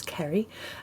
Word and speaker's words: Ceri: what you do so uh my name is krie uh and thank you for pronouncing my impossible name uh well that's always